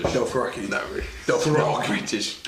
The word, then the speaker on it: Dothraki: guys pronounce Dothraki as Delfraki. It's pretty good. It's a British. Dothraki.